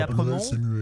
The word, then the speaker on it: Aspremont: On dit Apremont, mais c'est pour que vous le tapiez bien sur Google. Ça s'écrit Aspremont. A-S-P-R-E-M-O-N-T.